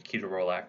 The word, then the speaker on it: ketorolac: use now toradol or ketorolac ketorolac a lot of people say I think the actual proper pronunciation is ketorolac we sent kind of